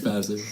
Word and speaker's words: Vassar: It's Vasser.